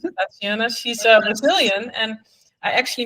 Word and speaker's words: Tatiana: You pronounce it Tatiana.